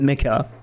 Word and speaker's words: Mecha: Mecha or it's Japanese. Yeah. Yeah, but I guess unfortunately the rule the rule of the world is that we pronounce stuff as uh in English, right? It's easier to call it Mecca. If you see a C, actually in French you would call it Mesha.